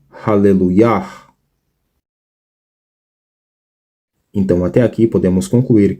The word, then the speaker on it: Hallelujah: Ou seja, a pronúncia não é Aleluia, e sim Hallelujah.